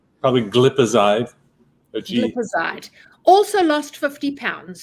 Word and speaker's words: glipizide: Clicizide. Clicazide. Probably glipizide.